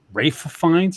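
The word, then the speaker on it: Ralph Fiennes: And Rafe Fiennes, is that how you say his name?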